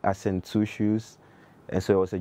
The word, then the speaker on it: 2Shuus: was like, he heard people saying my name, Shushu Shushu, and I was like, yo, what's his name again, Shushu? And they were like, yeah, and it was like, I sent two shoes.